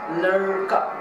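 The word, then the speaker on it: ड़: So it's not ra, r, r sound, neither it's D, d, d, d, d sound. It's somehow in the middle, something like you pronounce American, or you pronounce America, American, American, so that sound, you know, lurka, lurka, lurka. It's not ladika, neither it's lurka, like not r, not d, right?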